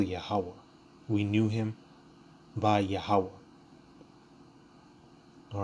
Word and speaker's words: Yahawah: again that's how you spell the lord's name yahawah right so even even even going from the